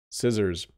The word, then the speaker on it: scissors: letters than it needs it doesn't need the letter c as the second letter and so people sometimes accidentally try to pronounce the C